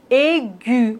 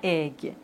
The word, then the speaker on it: aigu: Ambigu, aigu, on ne dit pas aigue.